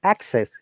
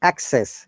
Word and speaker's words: access: to that we have access noun remember if it is noun access you have access to the library then the stress is coming up to down once again access and